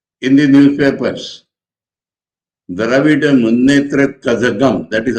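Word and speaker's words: Kazhagam: So we read in the newspapers, Dravida Munnetra Kazagam, that is how we read that. But the original word is Dravida Munnetra Kalagam. Kalagam. you have to pronounce G.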